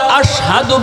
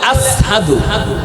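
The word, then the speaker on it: أشهد: কই বেলাল তো আশহাদু বলতে পারে না। বেলাল বলে আসহাদু, শিন উচ্চারণ করতে পারে না, সিন কয় সিন, আশহাদু কয় না, কয় আসহাদু।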